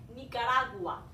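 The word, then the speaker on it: Nicaragua: 니카라구아라고 읽으셔야 되겠죠. 니카라구아라고 가끔 쓰는 사람들도 있긴 하는데 원래 정식적인 발음은 우, 아 둘 다 강모음이라서 사실 우는 저 양모음이지만 발음해 주셔야 되기 때문에 니카라구아 라고 발음하시는 게 맞습니다.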